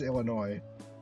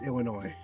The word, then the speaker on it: Illinois: it's not it is Illinois. Well, it's it's spelled Illinois with an S. It just is pronounced way. You just don't say those.